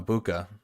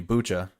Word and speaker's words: Bucha: that we saw from uh buca excuse me bucha i've been saying it wrong for a while now